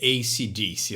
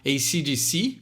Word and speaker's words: AC/DC: e de psicologia, e a pronúncia correta do nome da banda é AC/DC. Eu sei que no Brasil as pessoas gostam muito de falar AC/DC, e não tem nada de errado falar assim. Ou na Austrália eles falam Akadaka, né, o apelido ali que eles ganharam carinhosamente dos australianos, mas a forma correta de pronunciar é AC/DC.